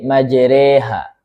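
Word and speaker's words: مَجْرٰىهَا: Majreha ini imalah ya. Imalah kubra.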